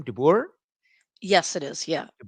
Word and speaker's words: de Boer: But first, I just want to make sure that de Boer, is that the correct pronunciation of the last name, de Boer?